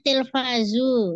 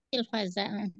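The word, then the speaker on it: تلفاز: Tadi Umi Putri bacanya Tilfazu. Saya koreksi Tilfaza. Karena dia menjadi maf'ul lebih. Yusahidu Faisal.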